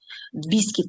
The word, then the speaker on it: biscuit: Biskit. Подивіться, як читається цей печенюшечка суха. бікіт. Тобто цей уії читається як і біскт.